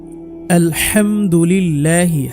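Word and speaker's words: الحمد لله: চাবেন ইনশাল্লাহ তাই পাবেন আলহামদুলিল্লাহি হা ঠিক করতে হবে এখানে লা বলবেন এখানে ল বলতে হবে না লালিফ টানতে হবে আলহামদুলিল্লাহি ওয়া সুবহানাল্লাহি সুবে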